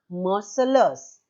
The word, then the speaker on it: Marseillaise: And the name of the song is Marseillaise. Children, the spelling is different and the pronunciation is different. In French language, it is pronounced as Marseillaise.